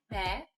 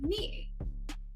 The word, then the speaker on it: Meghan: It's not me. It's pronounced me. The H is s.